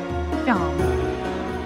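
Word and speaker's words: Seam: The name's Sean. Pronounced Sean.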